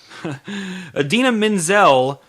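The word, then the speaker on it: Idina Menzel: speaking of the apocalypse adina menzel which is the correct pronunciation mr travolta has all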